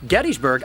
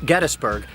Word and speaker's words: Gettysburg: Even the town that I'm standing outside of, Gettysburg, I am saying incorrectly, because by every account, the founder's name was James Geddes. Not Geddes, but Geddes. And therefore, this is properly pronounced Gettysburg, not Gettysburg, but I haven't gotten over that one yet.